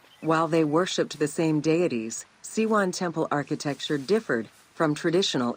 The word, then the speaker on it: Siwa: Welcome to Siwa.